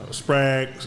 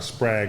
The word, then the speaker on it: Sprague: Yeah, so in comparison, Sprague, we call it Sprague, but it's actually pronounced Sprague.